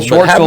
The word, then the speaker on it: Schwartzel: Well, Schwartzel rhymes with Horschel.